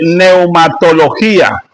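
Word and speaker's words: pneumatología: Iniciamos nuestro estudio de neumatología. Neumatología. Se escribe con P.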